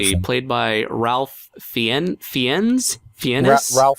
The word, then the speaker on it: Fiennes: Let's see, played by Ralph Fiennes? Ralph Fiennes. It's spelled...